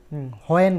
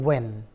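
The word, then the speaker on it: when: খেয়াল করে দেখবেন আমি কিন্তু হোয়েন বলি না, উচ্চারণ হচ্ছে ওয়েন, নট হোয়েন। এখানে এইচের উচ্চারণটা হবে না।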